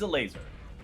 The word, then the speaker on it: Elazer: ago Esports it is a laser nikai love that laser I believe is the correct pronunciation say say it one